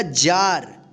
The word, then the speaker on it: jar: आ उच्चारण नियम का, कि जब किसी वर्ड में ए के बाद यानी लास्ट में ए के बाद अंत में आर रहे तो इस ए का क्या उच्चारण करेंगे, आ उच्चारण करेंगे, ठीक है।